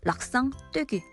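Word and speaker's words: l'accent aigu: 바뀌라는 뜻의 드오흐 같은 경우는 그냥 으로 읽었지만 오른쪽 위에서 왼쪽으로 내려오는 이런 점, 락상떼기. 이 앞에 L은 정관사예요. 그래서 원래 이름은 악상떼기인데 보통 부를 때 락상떼기라고 부르기도 많이 합니다.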